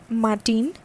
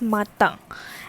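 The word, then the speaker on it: matin: after me lo okay this is not martin this is mata and as it is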